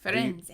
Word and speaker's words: Firenze: I have to get the Italian pronunciation. Firenze.